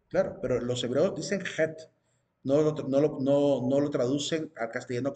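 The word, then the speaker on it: ח: La traducción que, la manera como ellos la pronuncian y le llaman a la letra es het, con una letra J bien rasgada, het, con una J bien sonada.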